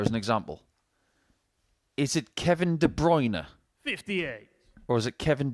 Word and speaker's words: Kevin De Bruyne: one out there as an example is it Kevin De bruyne 58 or is it Kevin De Bruner it should be Kevin De Bruner but he's been anglicized I was originally told